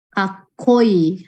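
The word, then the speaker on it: かっこいい: Kakoi, haite berarti dia dikasih tsu kecil di depan t. Gakko, kakoi, haite. Cara bacanya ya.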